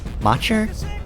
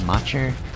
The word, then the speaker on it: Macher: Macher. It's M A C H E R. So, it's probably Mer. So, anyway, uh, I mentioned